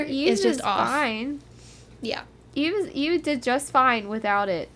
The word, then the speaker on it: Yves: It's pronounced Eve.